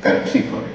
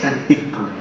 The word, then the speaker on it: Terpsícore: Dije, es Terpsícore. Claro. Es Terpsícore. Esa es la pronunciación griega, claro.